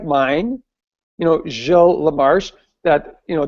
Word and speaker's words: Gilles Lamarche: like mine, you know, Gilles Lamarche, that, you know, Dr. Weinstein pronounced Giles because that's what he thought at the beginning.